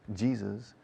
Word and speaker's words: Jesus: Luego Jesús, sin acento en la U en inglés. Jesus.